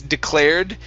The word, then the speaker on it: declared: It's declared. Make sure to pronounce the D at the end.